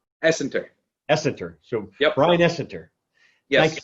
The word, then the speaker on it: Essenter: so what is it right what is correct pronunciation essenter essenter so yeah ryan essenter yes thank you so